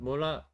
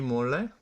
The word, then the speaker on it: 몰라: That's like very simple, but 몰라 is correct. 왜 그런지 몰래? I will look for that meme right now, actually. JYP. 왜 그런지 몰라. That's not 왜 그런지 몰래. I mispronounced it, sorry.